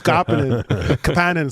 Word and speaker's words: Kapanen: My name's Kapanen. Sorry. That's the way you pronounce it, I guess.